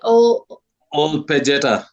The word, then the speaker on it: Ol Pejeta: And then yes, you're a ranger at how do you pronounce it? Ol Pejeta.